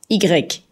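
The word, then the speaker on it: i grec: to live it the Y a letter is pronounced eager Ike which means Greek I in Dutch is pronounced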